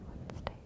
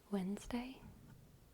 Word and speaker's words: Wednesday: to pronounce in English Wednesday that's cuz we pronounce it wrong we say when we the D is completely silent wday Wednesday we just